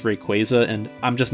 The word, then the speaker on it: Rayquaza: Also, I always pronounced this Pokémon as Rayquaza, but apparently it's Rayquaza, and I'm just not going to be changing how I pronounce it.